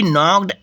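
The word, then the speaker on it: knocked: stop वहां हक रुका ही नॉक्ड एट द डोर यहां के साइलेंट है ही नॉक्ड यानी खटखटाया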